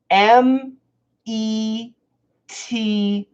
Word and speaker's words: meter: meter mirror meter mirror so m ET ER is a flap T meter meter meter and